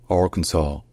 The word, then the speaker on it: Arkansas: Et donc de les Arkansas en français, c'est devenu Arkansas, Arkansas, en anglais américain. Donc comme vous l'entendez, encore une fois, le S à la fin n'est pas prononcé, parce qu'en français, il n'était pas.